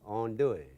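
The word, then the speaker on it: andouille: n d o u i l l e on doing anybody know how to spell that I guarantee and it's a wonderful sausage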